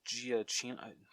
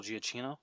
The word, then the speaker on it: Giacchino: Oh, Michael Giacchino. I'm gonna butcher his name. Michael Giacchino.